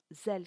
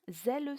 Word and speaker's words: zèle: On ne dira pas zèle sincère, mais bien zèle sincère, ce qui donne 2 syllabes pour le mot zèle.